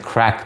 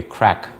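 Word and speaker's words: craic: It's pronounced like crack though. Okay, crack.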